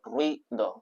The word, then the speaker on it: ruido: Si le pones la diéresis, la I la pronuncias como una sílaba más, a pesar de que generalmente, como era dictongo, nunca hubiera sido así.